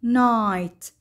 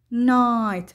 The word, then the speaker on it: night: I I، مثل كلمة night night. نلاحظ أن الـ G والـ H لا يلفظان فقط يكتبان، night وتعني الليل، light light وتعني الضوء، right right وتعني اليمين.